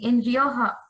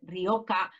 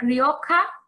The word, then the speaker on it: Rioja: can understand totally that the sound ha which is very spanish is complicated to pronounce in different languages and yes normally when